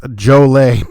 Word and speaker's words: Joliet: Joliet is pronounced Jolay per the locals.